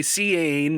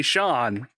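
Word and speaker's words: Seán: yeah yeah probably because you don't say sian you say sean okay so they heard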